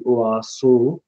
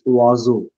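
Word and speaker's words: oiseau: something different oazo so if I write that that would be oaso it's not oaso it's oazo Perhaps with Z.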